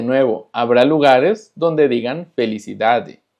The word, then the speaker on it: felicidade: Ahora, cuando tenemos una palabra que termina con DE, se pronuncia ji. Por ejemplo, felicidade, cidade, verdade, saudade.